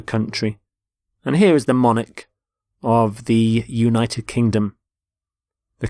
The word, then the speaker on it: monarch: and here is the monarch of the United Kingdom the current queen so monarch so the CH there makes the sound Manik the start of the